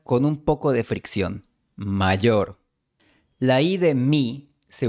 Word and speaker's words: mayor: mi hermano mayor, Quizás tú pronunciarías mi hermano mayor, pero el profesor Celorio no pronuncia mayor, sino mayor. Él usa un sonido con fricción.